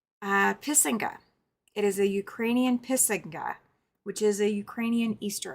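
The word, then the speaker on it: писанка: It is a Ukrainian pisinga, which is a Ukrainian Easter egg. She went over the pronunciation multiple times. That's why I had to think about it. But it is called a pisinka.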